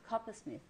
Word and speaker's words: Coppersmith: How do you pronounce it? Coppersmith.